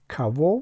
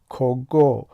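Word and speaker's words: кого: اسم در این حالت بر سوال های کوا و چیوا یعنی کی و چی جواب می دهد. توجه کنید که کاگا می نویسیم اما کوا تلفظ می کنیم و چگو می نویسیم ولی چیوا تلفظ می کنیم.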